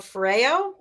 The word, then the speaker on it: Foreo: i guess uh the one device is called foreo is that how you say it yeah foreign